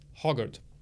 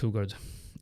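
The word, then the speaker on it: Hougaard: loser wins by Tom hogard hugard I'm Swedish I should know that it's pronounced hugard anyway those books read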